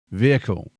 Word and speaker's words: vehicle: So I say the word vehicle, like that lane is for emergency vehicles. You'll hear some Americans say vehicle with a hard H. I genuinely have no idea where that comes from, but English pronunciation rules